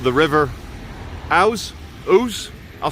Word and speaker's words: Ouse: the river here is called the river house ooze I'll spell it for you River o u s e